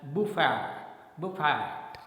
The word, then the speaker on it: buffet: Okay, the next one is buffet, and generally we speak it as buffet, but the correct pronunciation is buffet, right?